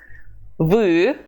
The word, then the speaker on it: вы: Pay attention to the U sound. It's never E, but U.